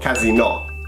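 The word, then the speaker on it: casinò: And casino, as you say in English, is called casino. So it has an accent on the O.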